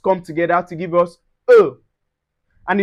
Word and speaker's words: eau: Those three vowels come together to give us eau. And it's pronounced eau.